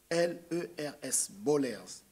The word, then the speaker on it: Baulers: Bollers, c'est écrit B-A-U-L-E-R-S, Bollers.